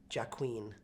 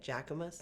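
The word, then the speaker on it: Jacquemus: it wrong I said I used to say Jack Queen Queen I don't know why I made up my own name I decided that I was going to say it with an accent how do you say it jacus jaus I love those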